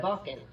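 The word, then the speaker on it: Wacken: Yeah, Vakan.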